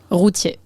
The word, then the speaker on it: Routier: How do you say your last name? Rutier. Rutier.